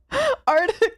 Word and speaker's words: Arctic: Arctic Circle doesn't help that plenty of people pronounce it artic anyways. Wait, do they Why would you do Why would you Why would you do that though? Because that's not how you actually pronounce it. That's not how it's spelled.